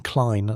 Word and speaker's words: Klene: Pronunciation Klene like line, the musicologist who'd cracked the Tusca cipher.